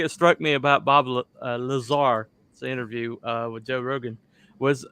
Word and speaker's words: Lazar: Lazar, okay. I pronounced it right.